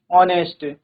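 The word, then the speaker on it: honest: ठीक है, H silent है तो क्या है, ऑनरेरी, एयर, ऑनेस्ट, होटल।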